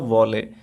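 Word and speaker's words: valet: She entered, वह अंदर आई, वह प्रवेश की, फॉलोड बाय अ वॉलेट। यहाँ पे अगर आप यहाँ पे टी का उच्चारण हमें नहीं करना चाहिए, इसको आप केवल वॉलेट पढ़ सकते हैं।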